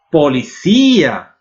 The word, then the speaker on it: policía: Policía. Lembram? Todas as palavras que acabam em ia ou em io em espanhol que tem a sílaba forte na I levam acento.